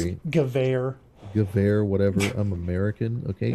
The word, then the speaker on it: Gewehr: That's a semi automatic rifle, but then you get a semi-automatic Gawer, which is great It's in pronounced theory. Gewehr.